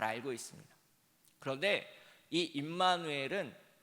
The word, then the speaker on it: 임마누엘: 잘 알고 있습니다 그런데이 임마누엘은 잘 뛰어 읽어야 됩니다 우리가 보통 두 글자씩 깨어있거든요 정확하게 발음하려면임을 먼저 발음하고 마누 그 다음에 엘이라는 단어를 발음해야 됩니다 세 번 세 번에